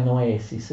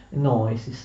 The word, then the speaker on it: noesis: Noeo o noema, anche hanno l'accento davanti, ma noesis ha l'accento all'indietro. È un grave errore pronunciare noesis, si dice noesis, d'accordo?